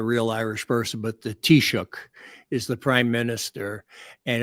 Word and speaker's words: Taoiseach: it like a real Irish person, but the Taoiseach is the prime minister. And it was a guy named Leo Varadkar, who was the first gay and, Asian let's just say Taoiseach, Prime Minister of Ireland.